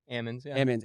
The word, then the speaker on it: Ammons: Hammonds without the age okay so it is pronounced Hammonds though like Ammons almonds okay okay cool what's up man yeah